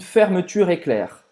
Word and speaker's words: fermeture éclair: mais comum usar une fermeture éclair. Une fermeture éclair. Une fermeture éclair. Então presta atenção na pronúncia do U, né? A gente sempre fala que faz a boca do U e fala I.